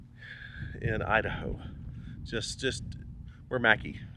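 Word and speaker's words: Mackay: Just just where Mackie spelled McKay, but it's pronounced Mackey because I don't know.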